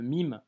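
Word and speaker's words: ميم: sera la lettre MIM le MIM en arabe se prononce comme un M en français que tu retrouves en français dans le mot maman ok avant d'étudier euh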